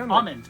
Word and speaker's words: almond: almond oil you know some people don't pronounce the ellen almond they call it almond instead of almond it's kind of like